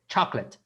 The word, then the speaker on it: chocolate: Okay, chocolate. Chocolate. Chocolate. Chocolate. Chocolate. Almost there. Chocolate. Chocolate. Chocolate. No pronuncien tanto la no. Don't pronounce too much the O. Okay, this O here in co.